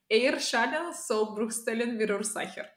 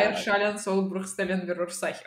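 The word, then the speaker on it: Eierschalensollbruchstellenverursacher: It's Eier schalen soll Bruchstellen Würursacher.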